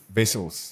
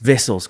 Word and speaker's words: Wessels: don't call me um vessels would be known as wessels um we pronounce the W as a v vessels uh cronies I